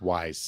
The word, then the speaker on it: Ys: I think that's pronounced wise.